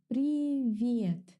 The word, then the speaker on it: Привет: Pay attention to the pronunciation. Привет. The sound that the letter V gives me is a little bit soft. V. V. To pronounce a softer V, start with the normal V.